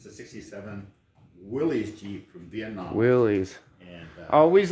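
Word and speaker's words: Willys: say it yeah yeah most people call them willies but yeah i heard rad somewhere is pronounced willis yeah he drives just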